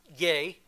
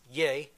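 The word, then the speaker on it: γῆ: Greek for Earth is yay it's actually um spelled g in Greek it's pronounced yay but this is the foundational word for like Geo geology and that sort of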